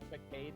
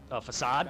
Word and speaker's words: Facade: Facade? That Linoone? Oh, that's It's, yeah, I've always called it Facade too, but people said Facade. So I was like, oh, so that is actually how you pronounce it, okay.